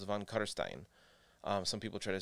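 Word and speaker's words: von Carstein: a little bit and the end rhymes with wine so it's von kutterstein some people try to say von karstein or something like that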